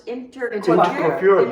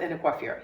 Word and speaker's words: Intercoiffure: And then, obviously, you're a member of YPO, WPO, and just active in numerous, I want to make sure I pronounce this, Intercoiffure, yeah.